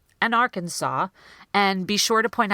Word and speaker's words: Arkansas: the stressed syllable or the strongest syllable Arkansas because as they are stressing the first syllable the are they're really rushing through the the can is turning into canoes a lot Arkansas that's not what we're saying Arkansas Arkansas do you hear that rhythm so two nice issues